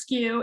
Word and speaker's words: SKU: moq minimum order quantity skew sku pronounced skew is a stock keeping